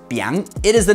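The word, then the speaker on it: biáng: It has 56 strokes, and it is pronounced Biang.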